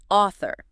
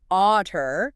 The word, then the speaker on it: author: Other pronunciation targets. Author. You need that soft the tongue between the teeth. Author, not otter.